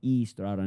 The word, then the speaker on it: Estrada: We have the Aon Estrada on the podcast. I guess you were supposed to pronounce his last name Estrada, not Arada like his daughter uh pronounces her own last name wrong.